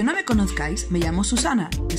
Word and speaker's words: Suzanna: Para los que no me conozcáis, me llamo Susana, que se pronuncia Susana, pero se escribe con Z.